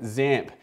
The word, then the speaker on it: XAMPP: And when it comes to stack-based, there are a bunch that all rhyme with AMP. Well, XAMPP is the cross-platform solution